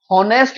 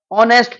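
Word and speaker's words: honest: हम इसको क्या पढ़ेंगे नेस्ट नहीं पढ़ेंगे नेस्ट नहीं पढ़ेंगे क्योंकि यहां पर एच जो है वो क्या है एच साइलेंट है तो क्या पढ़ेंगे इसको ऑनेस्ट पढ़ेंगे है ना तो यहां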